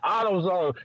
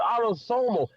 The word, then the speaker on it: autosomal: Then he said some shit like he couldn't even pronounce autosomal, right? He said autozone.